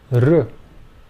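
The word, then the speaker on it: ऋ: The next pair of vowels are pronounced R. This is the vowel sound in the name Krishna, R.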